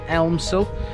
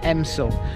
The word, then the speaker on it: Elmsall: this village it has an l in it it's spelt elmsul but it's pronounced emsil and it the same goes for southampton when